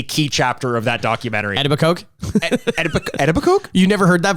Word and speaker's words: Etobicoke: So, okay, if you don't know what I'm talking about, Etobicoke is a suburb of Toronto. Yes. And they did not nail that pronunciation.